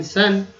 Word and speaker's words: sun: तो सन, SON सन।